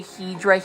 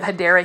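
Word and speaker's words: Hedera: running joke where I say hedra Helix instead of hadera Helix I was saying it incorrectly on my initial videos but for some reason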